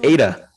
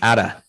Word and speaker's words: Ada: get a windows computer it's ada that's all i want to say not atta named after ada lovelace i'm aware but you're